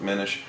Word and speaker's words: Minish: Minish Cap, however they pronounce it, Minish. Yeah, that would make sense, as in diminish.